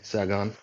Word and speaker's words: Sagon: i i want to make sure that i pronounce it correctly yeah yeah okay saigon awesome uh i want to thank you for